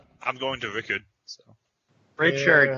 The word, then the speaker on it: Richard: Richard. Yeah. It's not Rickard. There's an H in there, bud. You can pronounce it however you want, Rickard or Richard.